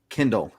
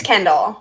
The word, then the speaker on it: Kendall: Kindle. Am I saying I can't even remember how to say it. I think it's Kendall. Kendall. Not like the book reading thing.